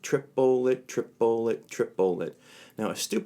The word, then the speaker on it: triplet: we're working with the rhythm that's how it's pronounced triple it triple it triple it triple it now as stupid as